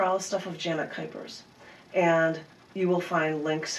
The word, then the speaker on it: Kuypers: Don't get Janet Jackson because my last name is Kuypers, rhymes with hyper, Kuypers, and you would be able to find a lot of them right there.